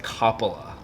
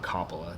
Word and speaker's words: Coppola: long as it's not Coppola. That's the one thing I don't like. I know it looks like it says cop in the first three letters, but it's just not how it's pronounced.